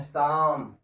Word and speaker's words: psalm: क्या पढ़ते हैं, काम, PSALM, इसको पढ़ते हैं शाम।